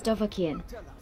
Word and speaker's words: Dovahkiin: It's Dovahkiin, not whatever that mangled version was you just attempted to say.